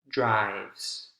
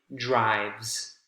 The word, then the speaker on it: drives: you had the s to drive becomes drives one syllable and the s sounds like a z in that case actually drives kicked kit is only